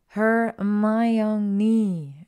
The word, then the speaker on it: Hermione: and change the subject how to correctly pronounce a name her my young knee she said slowly and clearly hermanini close enough she laughed catching Harry's eye and grinning chapter 8.